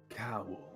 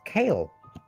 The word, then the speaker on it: Kaol: for a key oh it's pronounced cow breathing I thought it was kale I was very confused